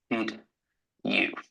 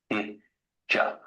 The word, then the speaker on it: did you: So in the past, did you, a native speaker, would pronounce this as did ja.